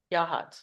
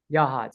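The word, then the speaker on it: Yachats: Y is it just how do you say Yak how do I say that yahad yahad okay what percentage is that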